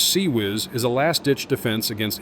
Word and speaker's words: CIWS: The close-in weapon system, known as CIWS, and pronounced SE- whiz, is a lastditch defense against incoming missiles and aircraft.